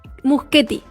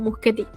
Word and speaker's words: Muschietti: Muschietti. Muschietti. Sí, porque originalmente dentro de lo que es el italiano, que creo sería, la CH se pronuncia como Q, entonces vendría sonando como Muschietti.